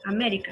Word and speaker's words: América: América es una palabra esdrújula y las esdrújulas se acentúan siempre.